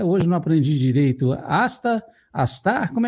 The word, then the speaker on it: ASTHAR: nosso convidado, o João Castro, ele vai falar sobre a confusão em relação ao comando as pronúncia, João, que eu até hoje não aprendi direito. Asta, astar, como é que é?